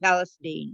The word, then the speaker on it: Palestine: Yes, they pronounce it Palestine.